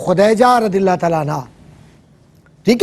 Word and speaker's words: خدیجہ: نام تھا حضرت خدیجہ, اور صحیح لفظ تلفظ ہے خدیجہ رضی اللہ تعالیٰ عنہ, ٹھیک ہے.